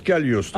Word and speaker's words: Cagliostro: On prononce Cagliostro.